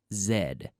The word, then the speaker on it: Z: American that's true but as Canadians we usually use the American pronunciation but this is a case where we go with the British or the non American is in anyone who's not from the United States of America will say Zed Zed okay I'm calling